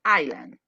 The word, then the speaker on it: island: Because it got an S, but the correct one is island.